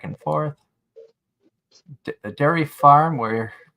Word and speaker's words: Worcester: Boston yeah going to wer I know it says Worchester but it's but they pronounce it wer and I've got